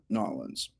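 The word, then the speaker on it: New Orleans: Before we jump in with Michelle, I want to give a special shout out to our friends in Nolens. That's how you say it here in America, Nolens.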